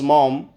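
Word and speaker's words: Maugham: author Somerset मोगम से इसको दोस्तों मॉम पढ़ा जाता है लेकिन मैं हमेशा इसको मोगम ही पढ़ता था स्पेलिंग याद करने के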